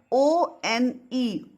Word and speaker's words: one: Ab O-N-E, one, we don't say own rupee. O is not pronounced.